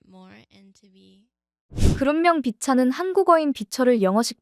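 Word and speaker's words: VCHA: 그룹명 비차는 한국어인 비철을 영어식 발음으로 변형해 만들었다고 하는데요. 빛을 비추다에서 따왔다고 합니다. 팬들과 이 세상에 빛을 주다라는 뜻을 담았죠. 영어로 발음하기 좋게 비차로 표현한 것입니다.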